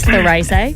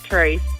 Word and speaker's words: Therese: He thought it was Therese. No, it's spelled Therese. Is that right? It's Teresa without the R. Therese.